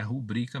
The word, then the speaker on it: rubrica: apresentar nome assinatura rubrica Lembrando que a pronúncia é rubrika mesmo ou outras formas de